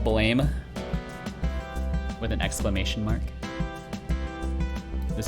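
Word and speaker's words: Blame!: pretty good i've read the manga oh it's pronounced blam i thought it was pronounced blame anyways it's it's a good one it's a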